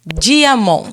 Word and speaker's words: Diamant: Gcast Gazeta do Paraná, Diamond. Se escreve Diamante com T mudo.